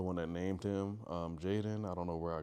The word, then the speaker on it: Jaden: So that's why his name is spelled J A D E N. It's with no Y or I or anything to actually make it Jaden.